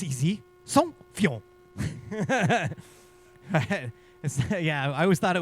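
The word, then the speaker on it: Saint-Feuillien: And we're just like, wait, hold on, slow down, say this a little, pronounce it a little bit more carefully. And he's like, oh, it's easy, Saint-Fillon.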